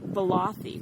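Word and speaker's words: Ballathie: But we got to the hotel, and we have to pronounce this correctly, Kim. Balathi.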